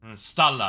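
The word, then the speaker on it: Stahl: But it's pronounced Stella because it's I think it's a German word or some kind of uh as far as I understand.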